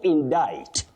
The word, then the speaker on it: indict: You say indict, not indict. To indict someone and then indictment, not indictment.